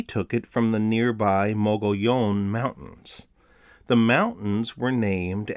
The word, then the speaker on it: Mogollon: think it's right so i don't care if people want to say muggy own that's not how the name is pronounced it's mogollon there i've drawn a